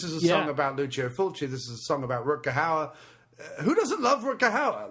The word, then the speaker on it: Hauer: It rhymes the word Rutger Hauer with as many words that rhyme with Hauer as possible. It's fantastic. Hour, flower.